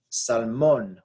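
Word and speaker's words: salmón: break the rule because it is salmon we stress the last syllable we're supposed to stress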